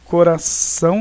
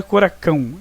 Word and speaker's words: coração: ele que você diga o cedilha ele serve para fazer com que o cê que tem muitas vezes são de cá receba ou tenha a pronúncia de S por exemplo coração não é coracão é coração função na sintam a